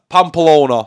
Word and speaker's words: Pamplona: Running with the Bulls in, I can never pronounce the city. Pamplona.